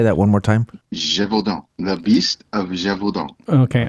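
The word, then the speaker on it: Gévaudan: First off, it's pronounced the Beast of Gevaudan. Gevaudan.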